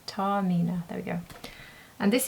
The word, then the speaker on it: Taormina: The name of this, I can see it now, is Tau Mina. Tau Mina. That's how you pronounce it. So, Tau Mina. Tau Mina.